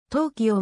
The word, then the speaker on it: 東京: たのだが読み方については根拠となるような法令が出たわけでもなかったとうきようが正規に使われたが明治 20 年